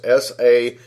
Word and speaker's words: Sair: Also, there's the word Sair, which is S-A-I-R, pronounced Sair.